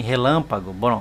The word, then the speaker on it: relâmpago: Em relâmpago. Bom, agora vejam aqui, ó. A sílaba tônica não é a última, nem a penúltima, é a antepenúltima.